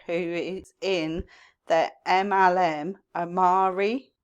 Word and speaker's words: Amare: is in the MLM Omari I think that's how you pronounce it it's spell a m a r e and they are a